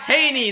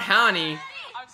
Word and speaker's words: Hannie: probably be like that it's pronounced Hany not honey I liked oh I